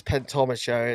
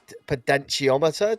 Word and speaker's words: potentiometer: And just so everybody knows if what really says pentometer, it's a potentiometer, just in case it was wondering. I always say it wrong. The first time around, I said pedometer.